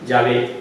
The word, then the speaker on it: Yahvé: Pues está bien, porque todos los hebraístas modernos, los que estudian el idioma hebreo, están de acuerdo que la manera original y primitiva de pronunciar el nombre de Dios debía ser Yahvé y no.